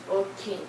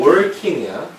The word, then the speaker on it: walking: 이건 working이야. walking. walking입니다. walking. 알겠죠? R자 하나도 안 들어간 walking입니다.